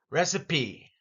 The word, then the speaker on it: recipe: here's some more vocabulary recipe and notice the P here is anything but silent the E is not silent recipe ingredients and GRE